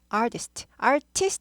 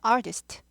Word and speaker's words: artist: 그래서 artist 하지 않고 약화돼서 artist. R이 있으니까 꼬부리죠. artist 아니고 꼬부리죠. artist. R이 있을 때만 꼬부립니다.